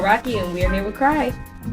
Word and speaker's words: KRAI: instagram it's okay to cry sorry yes it's okay to cry so it's okay and then spell it out t-o cry k-r-a-i and i tagged him